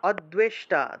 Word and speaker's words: অদ্বেষ্টা: তারপরে দেখুন পরেরটা অদ্বেষ্টা, দয়ের নিচে বফলা থাকায় দুও উচ্চারণ, অদ্বেষ্টা, অদ্বেষ্টা সর্বভূতানাম, সর্ব, সর্বভূতানাম, অনুস্বার থাকায় ম।